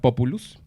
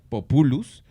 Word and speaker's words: populus: La palabra pueblo viene de la palabra latina populus, que no es populus. Populus es un árbol. Hay que tener cuidado ¿sí? con esa pronunciación.